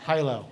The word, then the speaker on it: Hilo: Hilo it's like yeah it's like okay no high low high and low and I probably should check